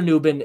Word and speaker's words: Nubin: saying his name wrong I'm sorry Tyler nubin is his actual pronounced name and look he's got